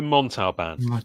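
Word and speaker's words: Montalbán: um Ricardo an what's what's his name Ricardo montau band yes that's how you say it yes yes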